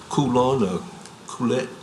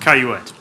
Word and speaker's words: Caillouette: Coulette. I might be mispronouncing your name there, so. Yes, it's pronounced Caillouette.